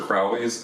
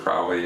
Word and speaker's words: Crowley: the occult and uh aleister crowley and uh or crowley i think is is actually how you pronounce that um and the